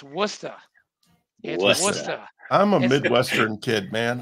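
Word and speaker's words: Worcester: in New England okay it's not Hey listen Worchester it's wora I'm a Midwestern kid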